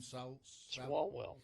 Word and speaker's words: Swalwell: Swalwell.